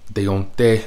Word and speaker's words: Deontay: Deontay is how it's properly pronounced.